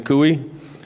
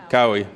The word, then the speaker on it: Cooey: Hello, my name is Cooey. I've lived, did I pronounce that right? Cowie, sorry, thank you.